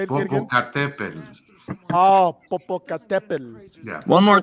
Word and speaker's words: Popocatépetl: I was gonna intervene there and say it properly. It's Popocatépetl. Wait, say it again. Say it again. Popocatépetl.